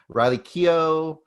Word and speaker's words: Riley Keough: her go so quickly in this movie um riley keough i can never say her name yeah you